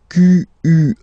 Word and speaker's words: quelle: And then the feminine form is written like that, Q-U-E-L-L-E, but it's pronounced like the masculine form. Quelle at the masculine, quelle at the feminine. Okay, so it's basically same pronunciation.